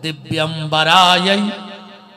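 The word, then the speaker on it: दिव्याम्बराय: ये गलत उच्चारण है। ये माता पार्वती और भगवान शंकर को हम हाथ जोड़ के बुलाते हैं, तो इसका शुद्ध उच्चारण ये है, अगर बोलो तो ये बोला करो कि दिव्यंबराय च दिगंबरायो। इसका अर्थ ये बनता है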